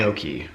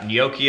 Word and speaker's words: gnocchi: Gnocchi I'd go for. Gnocchi. No, that's not how it's said. It's Italian, it's not Australian.